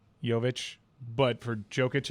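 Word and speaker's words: Jović: the finals huh but how do you pronounce the J in his name yovich yovich but for jokic it's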